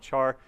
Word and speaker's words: char: good debate it is it's pronounced care well yeah because of character but feels kind of weird calling it care so I call it char just like how do